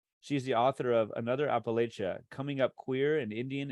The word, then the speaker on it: Appalachia: I'm really happy to it's Appalachia okay um like throwing an Apple at you is how you say okay okay well like